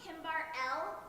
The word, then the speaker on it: Kimberly: It's pronounced Kimbar L. There's no E. The E is silent.